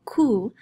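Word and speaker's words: cu: q u okay so the letter q in spanish is called ku it doesn't make a qua sound it makes a k sound so the two syllables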